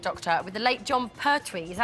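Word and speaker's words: Jon Pertwee: In a poll in this week's Radio Times, Tom Baker was voted the favourite Doctor, with the late John Pertwee. Is that how you pronounce his name?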